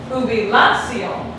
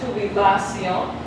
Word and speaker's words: jubilación: Jubilación. But it's not pronounced jubilación. It's pronounced jubilación.